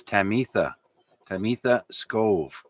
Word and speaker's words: Tamitha Skov: And that lady's name, the space weather lady, her name is Tamitha Skov. That's spelled Tamiha, kind of like Tabitha, but it's Tamitha Skov.